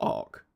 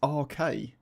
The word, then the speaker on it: RK: It's not Ark. It's RK.